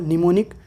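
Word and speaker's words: mnemonic: लिखा हुआ है तब एम जो होगा वो साइलेंट हो जाएगा। फॉर एग्जांपल निमोनिक, नेमिक, नीम, यहाँ पे एम साइलेंट है।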